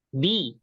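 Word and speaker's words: بِ: selanjutnya yaitu adalah B nah ini bacanya B ya ya bacanya apa Bi Bi itu artinya De dengan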